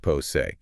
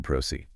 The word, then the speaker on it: pro se: It is pronounced pro se. Rhyming with day, never proceed.